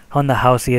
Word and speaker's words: Ronda Rousey: Housey versus Liz caros Honda Housey is how the Brazilians would say her name but anyway let's get